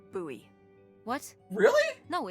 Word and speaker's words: Bowie: no warning he pulls out this huge Rusty Bowie knife oh my God it's actually pronounced buoy what really no it's like the last name